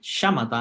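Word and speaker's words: śamatha: En sánscrito se llaman shamatha, hay esta tilde encima de la S, que es como una SH, shamatha y vipashyana.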